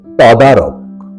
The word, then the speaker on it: তদারক: তদারক সঠিক এবং শুদ্ধ উচ্চারণ হল তদারক ত এর নিচে অসন্ত দিয়ে উচ্চারণটি করতে হয় তদারক 35 মূল শব্দ তরক